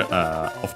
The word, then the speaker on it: を: Then we have the object particle O, written as O and pronounced as such in careful speech and also singing.